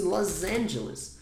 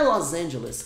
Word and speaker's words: Los Angeles: é wilever and los angeless como se fosse Los Angeles mas não é los angelas é Los Angeles com s ou acende a